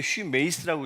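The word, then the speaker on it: ὑμεῖς: 주어를 안 써도 되는데 이 제일 뒤에 슈메이스라고 있는데 슈메이스라고 읽어요.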